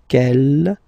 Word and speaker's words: quel: Quel here, feminine singular, will become quel with the S, feminine plural. And the good news is that you will pronounce them the same way. All right, so quel, quel, quel, and quel. Okay, remember that in some